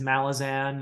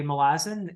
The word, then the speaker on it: Malazan: reward from from melizon it is malazin right I feel like everybody pronounces it differently yeah well uh the and any pronunciation is fine you know I'm not condemning anyone who says Malazan or whatever uh but I tend to say malazin uh simply because the authors say malazin and it is um